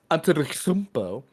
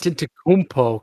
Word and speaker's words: Antetokounmpo: Joel Embiid plus 800, and Giannis Antetokounmpo plus. Antetokounmpo, come on.